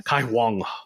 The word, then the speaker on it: Caihong: Caihong.